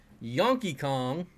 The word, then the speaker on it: Yonky Kong: Yonky Kong, like Donkey Kong, one of my favorite video games, arcade video games.